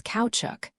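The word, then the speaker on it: caoutchouc: Note the word kaya is pronounced approximately as couchuk caps.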